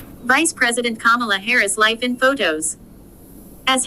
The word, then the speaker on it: Kamala: and a note on her name Kamala is pronounced Kamala and it means lotus flower as she writes